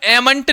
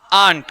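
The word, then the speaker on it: aren't: रहा है ध्यान रखना एम प्लस नोट को हम एंट नहीं बोलते बात समझ में आ रहा है क्या बोलते हैं इसको आंट क्या बोलते हैं आंट स्पेलिंग ये लिखा हुआ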